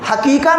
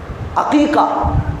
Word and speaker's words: عقیقہ: جانور کو کہتے ہیں، حقیقہ نہیں. بہت سارے بھائی حقیقہ پریشان. اب ان کا تلفظ صحیح کروایا جائے کہ حقیقہ نہیں ہے، ہاں سے نہیں ہے، عین سے. عقیقہ، عق کا معنی ہوتا ہے کاٹنا میرے بھائیوں، چیرنا.